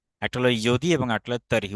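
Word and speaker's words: यदि: একটা হলো ইয়দি এবং একটা হলো তরি। উচ্চারণটা ইয়দি হবে, উচ্চারণটা হবে ইয় দি, কারণ জ্বর উচ্চারণ ইয়র মতো উচ্চারিত হয়।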